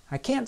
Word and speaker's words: can't: Notice that in this sentence, I said the negative form of the auxiliary verb louder and in a high pitch.